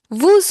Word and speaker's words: vous: This is because the next word begins with a vowel. When the next word begins with a vowel, at that time only we pronounce the last consonant of the first word.